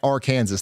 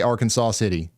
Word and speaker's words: Arkansas City: the Kansas people, they they pronounce that R Kansas. They do not say Arkansas City. Most of them don't. Some of them do. It's debated, but yeah.